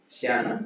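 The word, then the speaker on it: 下: Shiyana below. இந்த character பாத்தீங்கன்னா இந்த இதுக்கு கீழே இருக்கு, கிரவுண்டுக்கு கீழே இருக்கு. ஷியானா பிலோ.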